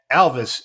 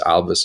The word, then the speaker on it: Alvys: and why uh but the best way to remember how to pronounce a company is think of Elvis we often like to say what Elvis did to rock and roll is what Alvis is doing to Logistics